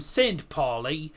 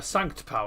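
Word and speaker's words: St. Pauli: Bundesliga football Bundesliga action s poy take on hoffenheim or as everyone else calls him sa PA taking on hoffenheim but it's sank po because that is the official German pronunciation and they're taking on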